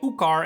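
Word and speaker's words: Iuchar: The I that is present in both the names of Iukar and Eukarba is pronounced U. So this is actually Ukar and Ukarba.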